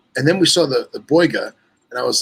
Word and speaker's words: Boiga: I Boiga, know, boiga. It's just different emphasis on a different syllable.